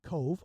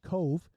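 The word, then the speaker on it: Cobh: The next stop then was in Cove, although it looks like it's spelled Cobb, C-O-B-H, Cove, in Ireland, which is in County Cork.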